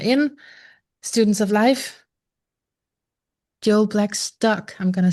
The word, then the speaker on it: Blackstock: Joel Blacktock. I'm going to say it correctly this time. Joel Blacktock.